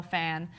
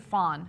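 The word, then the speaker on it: Phan: johnson obvious youtube star michelle fan uh or is it fawn do i always say her name wrong no i think it's fan okay great uh and then jenna marbles is 16.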